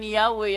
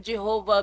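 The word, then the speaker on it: Yahweh: february 9 1950 iingon while inclining to view the pronunciation yahwe as the more correct way we have retained the form jehovah because of people's familiarity with it since the 14th century mong gibasa ng bersiculo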